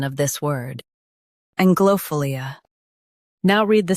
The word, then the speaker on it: anglophilia: Both US and UK have the same pronunciation of this word, ANGLOPHILIA. Now read the syllables shown on the screen naturally. Ang, glow, fill, ANGLOPHILIA. Stress ang and keep philia smooth.